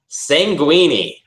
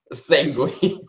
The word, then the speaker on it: sanguine: Sanguini. Sanguini. To our viewers, I apologize for Stevie's lack of education at pronouncing sanguine like a pasta. Sanguine.